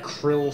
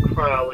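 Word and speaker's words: Krile: Okay, this is where Galuf flashbacks to where Krill starts beating up on him.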